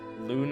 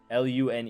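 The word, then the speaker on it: Lune: Lun. It's like loon. Like loon. L U N E. But they they say it like Lun.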